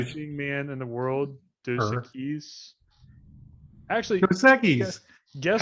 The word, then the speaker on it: Dos Equis: Dos Dos Equis.